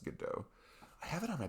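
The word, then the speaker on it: Godot: that's how you say it's spelled with a T at the end like G do but I think it's pronounced good do I have it on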